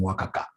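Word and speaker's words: WACC: told me you should be pronouncing this ASA pronounce this ASA W no that is very unprofessional how do you call this thing Waka right great great so Waka is equal to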